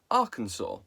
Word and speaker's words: Arkansas: But the land was colonialised by the French, who naturally do not pronounce the S at the end of words. So the land became Arkansas.